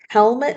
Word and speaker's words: helmet: It's an E. It's hard to see. Helmet. Sounds almost like it could be an I, but it's really an E spelling.w helmet.